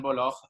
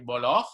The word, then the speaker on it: Voloj: So my name is pronounced Julian Voloj, if you would do it the Spanish way, or Julian Voloj in German, or Julian Voloj, as they say in English. So it's really depends on your pronunciation, but correctly would be Voloj.